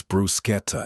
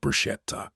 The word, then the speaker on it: bruschetta: "It's bruschetta, Everett, not brushetta. God." Trent, who was somehow at this family dinner, laughed. Vivienne smiled into her wine. My buddy Ronan, the only friend of mine who'd been invited, looked at his plate like he wanted to disappear into his risotto. For the record, both pronunciations are acceptable.